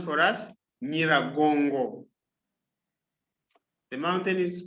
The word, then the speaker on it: Nyiragongo: Nyiragongo. The mountain is pronounced as Mount Nyiragongo. Nyiragongo.